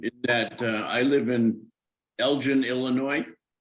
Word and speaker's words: Elgin: And Gus has told me that I have to get everybody in the city to pronounce it Elgin. Well, Which is Lord pretty Elgin might difficult. pronounce it that way, but the city pronounces it a different way.